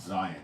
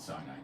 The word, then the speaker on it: Zion: adoi yehovah there shall it's Mount Zion not SI Mount Zion I think I might have said SI Mount Zion is the Hebrew pronunciation say um ad Jehovah